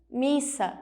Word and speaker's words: missa: essa palavra com ss nós temos a palavra missa missa ela precisa que o Essa é a sua o seu som assuma o seu papel para que ela seja falada corretamente então ela deve ser grafada Ela deve ser escrita com dois ésses nós temos a